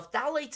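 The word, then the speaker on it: phthalates: something called phalates okay now phalates is spelled weird it's spelled p is in Paul t h a l A tes phalates okay with a silent P like like gnome uh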